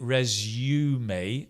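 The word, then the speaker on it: résumé: Although in English we do use it, we pronounce it resume, a U, resume.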